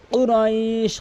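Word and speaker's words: قريش: কুরাইশ ধাক্কা দিয়ে কুরাইশ, অধিকাংশ লোক কুরাইশ বলে। কুরাইশ কুরাইশ কফটি জিব্বার গোড়া উপরে তালু থেকে ধাক্কা দিয়ে কুরাইশ।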